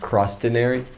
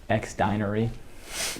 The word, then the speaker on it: Xdinary Heroes: heroes album or EP how do you say their name xary hero shoot sorry about that cross denary no X dinery yeah the lyrics for